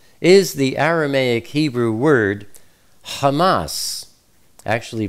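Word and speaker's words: חמס: Bible as violence is the Aramaic Hebrew word Hamas actually pronounced Hamas see Strong's exhaustive Concordance number h254 Hamas is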